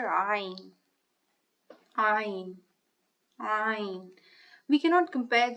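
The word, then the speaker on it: ع: Ayn, ah.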